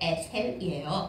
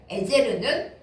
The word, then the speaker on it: 에제르: 있는 그 이름 에벤 에셀이 원래 히브리어 발음으로 하면 에셀이 아니고 에제르입니다 에베 돌이고 에제르 도움 그니까 도움의 돌이라는